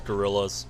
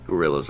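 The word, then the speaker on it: guerrillas: of a group's fascists I know there's a different pronunciation with that word but no it was exactly as it sounds gorillas gorillas okay okay and even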